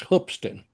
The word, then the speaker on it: Hoopeston: He Well, went to a it's Hoopston. Oh yeah, okay. I better pronounce it right if I'm from that area. Hoopeston, Illinois. He went to a college.